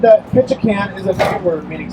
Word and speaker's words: Ketchikan: That's why it's pronounced Ketchikan, not Ketchikans.